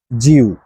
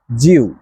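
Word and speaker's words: 九: মানে হচ্ছে আট জিউ জিউ জিউ মানে হচ্ছে নয় নাইন আরেকবার শুনেন জিউ জে আই ইউ জিউ জি মানে হচ্ছে নাইন আর এরপরে নাম্বার টেন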